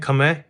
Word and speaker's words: Khmer: यहाँ से आप देखो यार टेम्पल, ये सारा दोस्तों खमै आर्किटेक्चर है, प्रोनाउंसिएशन में खमै, एंड अगर आप स्पेल करोगे तो स्पेलिंग इसकी KHMER है।